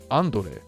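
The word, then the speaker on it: Andore: and do re though I believe it's meant to be pronounced on delay like Andre because he looks like Andre the Giant what's next I'll see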